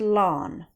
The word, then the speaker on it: ln: this natural logarithm is known as alon pronounced lawn so when you see